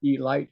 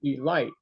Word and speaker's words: Elite: team called the Baltimore Elite Giants. He would always tell me to pronounce that name Elite and not Elite, Elite.